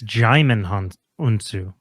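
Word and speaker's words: Djimon Hounsou: Oh, it's it's Jim Honu is how you pronounce that.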